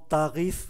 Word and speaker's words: tarif: Chúng ta để ý chữ F này phải phát âm, bởi vì nó không nằm trong số các cái danh sách của các cái phụ âm câm.